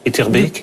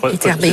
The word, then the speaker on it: Etterbeek: D'abord, je crois que le bec belge se prononce Beek. Il faut dire Beek. Etterbeek. Oui, Etterbeek.